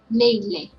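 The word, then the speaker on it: နေ့လည်: So the first one is combination of na and e. So we pronounce ne. And next one is combination of la and e. So we pronounce le.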